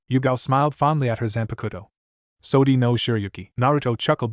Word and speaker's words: Zanpakuto: What's that Zanapato thing? Ino asked, saying it wrong. Zanpakuto. Jiraiya corrected.